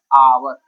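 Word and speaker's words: hour: यहाँ पर भी आवर में एच है, बट इसका प्रोनाउंसिएशन क्या है आवर, आवर, आवर, इसके वजह से इसका यहाँ पे इस्तेमाल जो है एंड हुआ है, ठीक।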